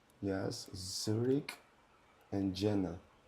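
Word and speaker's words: Jena: And Jenna. J E N A. Would you like to try pronouncing them? Yes. Zurich and Jenna.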